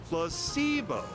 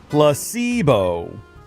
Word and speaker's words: placebo: Placebo. The stress is on the middle syllable. Placebo.